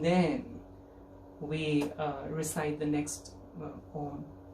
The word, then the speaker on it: Om: and so am I, all the 3 syllables, and then we go quiet. Uma, Om. In my personal experience, it's just more beneficial for me when I emphasize on the ma bit, because there are times